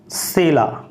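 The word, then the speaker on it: Scylla: और इसे बोल सकते हैं सैला, और एस इसमें साइलेंट है, इसमें बी साइलेंट है, ठीक है।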